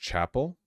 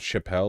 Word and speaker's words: Chappell: stalking her or whatever it's pronounced Chapel not Chappelle like Dave Chappelle for the past 10